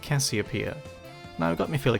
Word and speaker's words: Casiopea: Perhaps you can’t tell but Casiopea, or "Kashiopea" (Japanese pronunciation), is one of my favourite bands.